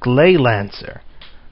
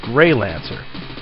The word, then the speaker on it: Gleylancer: playing a game for the Sega Genesis called glay Lancer now I actually mispronounced it um when I did my nights of the round playthrough and said it was grey Lancer a mistake easily made now as you can